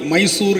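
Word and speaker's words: ಮೈಸೂರು: மாற்றப்பட வேண்டும் என்று சொல்லி மைசூறு ஏன்னா அவங்க உச்சரிப்பு வந்து முடியும் நம்மளுடையது வந்து மெய்யெழுத்துல முடியும் ஊர் என்று அவர்கள் அதை வந்து பெங்களூரு மைசூரு என்று அவர்கள் அவர்களுடைய மொழி உச்சரிப்புக்கு ஏற்றவாறு அதை மாத்துனாங்க எதுக்கு சொல்ல வரேன்னா அப்படிப்பட்ட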